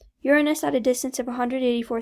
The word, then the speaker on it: Uranus: uranus planet number seven that's pronounced uranus uranus at a distance of